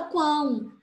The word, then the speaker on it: quão: Então, só que aqui na palavra quão, ninguém fala qual, ninguém fala, todo mundo fala quão. Então, o O tem som de U.